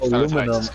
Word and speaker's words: aluminum: Okay, aluminum. Aluminium. Aluminium. Which is an absurd way of fucking pronouncing that. Do you guys spell it the same way? If you spelt it differently, I could understand it. No, you just say alu. We say alumin.